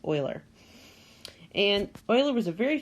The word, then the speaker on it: Euler: In this video, we're going to be talking about Euler circuits. Now, that is how you pronounce it. A lot of people say Euler, but it's the correct pronunciation, according to what I've seen, is Euler.